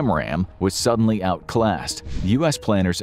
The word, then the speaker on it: AMRAAM: Their primary long-range air-to-air missile, the AIM-120 Advanced Medium-Range Air-to-Air Missile or AMRAAM (pronounced am-ram), was suddenly outclassed.